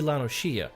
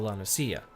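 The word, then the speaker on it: La Noscea: It's supposed to be Lanoshia instead of Lanosia. I kept saying Lanosia, and I sound like an idiot.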